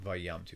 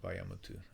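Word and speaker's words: וַיָּמֻתוּ: Okay, vayamutu. Excuse me, not vayamtu, but vayamutu.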